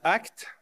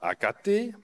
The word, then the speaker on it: AKT: à pourvoir dépêchez-vous et prononcez bien acte pas acaté je mets à la